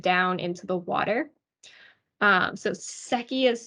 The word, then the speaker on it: Secchi: would lower it down into the water so seki is spelled s-e-c-c-h-i for reference so when we have